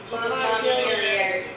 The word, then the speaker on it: Montpelier: Do you say it with the ER like the French way or pronounced? Montpelier. Okay, good. I was worried that I was mispronouncing it.